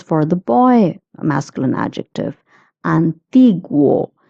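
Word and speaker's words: antiguo: Antigu. Guo is pronounced as gu.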